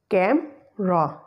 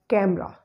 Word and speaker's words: camera: of all the first example is of camera Cam Raw the center or the middle sound Earth's label is comprising of schwa sound it we have to just eliminate it and we will pronounce it as camera the second slave the second word is just